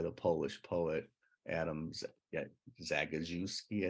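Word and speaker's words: Zagajewski: Polish poet Adams yeah zagazewski I think is how you pronounce it and you know he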